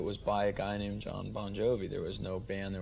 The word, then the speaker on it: Bon Jovi: So your actual name is Bon Jovi, isn't it? No, it's pronounced Bon Jovi. It's just the phonetics in Italian. The GI is the J sound.